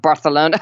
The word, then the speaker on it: Barcelona: Well, when I was in Barcelona, I just could not do the whole lisp thing of Barcelona. It just bugged me. I couldn't do it. I have to say Barcelona. Barcelona. Yeah. Just felt like I had a lisp every time I said it.